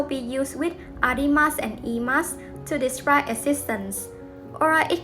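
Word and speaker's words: へ: going to learn is e is written as he in hiana but pronounced as e we usually use the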